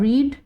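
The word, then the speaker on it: read: needed cook cooked without doubling the consonant और रीड देखो रीड they ना एक रीड ना एक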